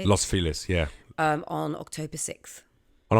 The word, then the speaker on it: Los Feliz: Los Feliz, yeah.